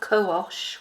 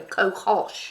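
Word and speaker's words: cohosh: fennel pollen extract black co-osh which I don't know what I'm saying in the Spanish way kohash you do pronounce h is in English soya milk all these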